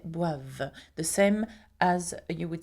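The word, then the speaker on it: boivent: at the end okay notice that for ill and L it ends with e n t here uh and you don't pronounce it okay so you don't say B uh you say bav the same as you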